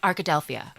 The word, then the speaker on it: Arkadelphia: this name and I'm very proud of myself Arkadelphia oh that's the one cuz I was going